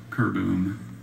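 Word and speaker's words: keurboom: Are there any alternate pronunciations? Just the one, kerboom.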